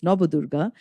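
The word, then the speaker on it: Navadurga: We have the Nabadurga, the 9 forms of goddess Durga, also called Nabadurga, but as a Bengali, I pronounce it as Nabadurga.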